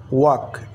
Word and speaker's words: walk: তাহলে এই যে এই ছেলেটি হেঁটে যাচ্ছে, ইংরেজি কি, ওয়াক, WALK, ওয়াক। এই নিয়মটাও মনে রাখো, ক উচ্চারণ যদি হয়, কের উচ্চারণ ক, কয়ের আগে যদি এল থাকে, সেই এলের উচ্চারণ হবে না।